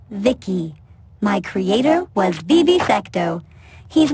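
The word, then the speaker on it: VICI: By the way, I'm V I C I pronounced Vicki.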